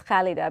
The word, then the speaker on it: Khalida: Kalida because it will in Arabic it's khalida but I didn't want it to be like a thing so khalida is a very acceptable uh pronunciation and it actually means